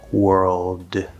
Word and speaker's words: world: If we fully pronounce the word, you can push that d out. World. Of course, it might connect if there's some connection or whatever else is going on, but without anything special, it's going to probably be a stop. World, which is not the same as dropping it.